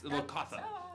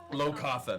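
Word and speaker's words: Locathah: Yeah, it's Lokatha. Low Katha.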